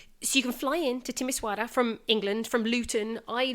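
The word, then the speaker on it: Timișoara: yes right yes everybody let's fly in to timisoara am I pronouncing that right yeah so you can fly into timisoara from England from Luton I looked there are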